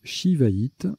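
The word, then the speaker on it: shivaïte: également jouer sii ou c cédille ça se prononce shiva it d'ailleurs soin que c'est la seule sa lettre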